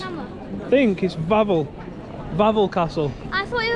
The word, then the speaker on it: Wawel: But it's spelled W-A-W-E-L. But I think it's Wawel.